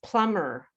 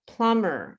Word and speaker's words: plumber: is silent in uh there's a lot of asylum bees plumber plumber the man who or woman